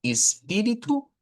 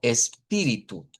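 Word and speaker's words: espírito: La más común es que se haga con i, pero también se puede hacer con e. Eh, casi todas, y esta es una tendencia, todas las palabras que comienzan con es en el portugués de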